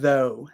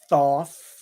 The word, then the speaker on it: though: after me okay good now o u g h in this word it just makes an o sound so it's not thof it's not th it's not